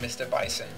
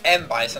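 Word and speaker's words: M. Bison: nothing to do with mr. bison nothing the m.bison I keep saying mr. bison because you know em with a dot is mr. in French not in ink yeah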